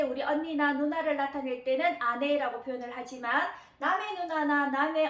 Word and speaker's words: 姉: 근데 또 하나만 해서 언니나 누나 이렇게 훈독으로 발음을 할 수가 있는데, 훈독으로 발음을 했을 때는 언니나 누나는 아내라고 표현을 합니다. 아내.